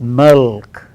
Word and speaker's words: milk: one form and here M I yell K how do we say and now normally we say make like that it is milk milk milk again inside our mouths